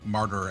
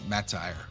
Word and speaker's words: martyr: I remember getting picked on by a friend once because I mispronounced martyr as matire.